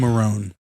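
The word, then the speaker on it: Marrone: Um I feel like Doug Monroe is like kind of a steal for them. Doug Marone. Doug Marone. Doug Marone. I knew you were saying it wrong.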